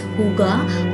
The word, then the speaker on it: hygge: Now as you can see that I am pronouncing the name as Huga, although it's written Haigi, but that's exactly how